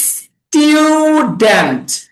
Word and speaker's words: student: আচ্ছা উচ্চারণ শিখেন, বলেন স্টুডেন্ট। স্টুডেন্ট। হ্যাঁ স্টুডেন্ট। না না স্টু না, টিউ স্টুডেন্ট।